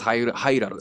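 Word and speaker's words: ハイラル: Agos is Hairaru. So how do you say in Japanese? Hairaru. Hairaru. Hairaru.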